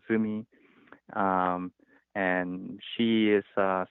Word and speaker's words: Zumi: AI called Zumi uh it's spelled Z and uml so it looks like youu but with two do on top and Mi so it's called Zumi um and she is